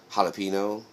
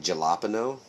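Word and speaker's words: jalapeño: because if if you if you say the word jalapeno the way that it's spelled it's like galapo and we you used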